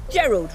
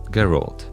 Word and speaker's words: Geralt: Gerald, right? Well, as you probably know by now, because lately this franchise has been all over the media, yeah, it's pronounced Geralt.